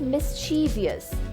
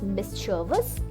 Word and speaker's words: mischievous: Many people say this as mischievous. Mischievous. But no, the correct pronunciation is mischievous. Mischievous. Repeat after me. Mischievous.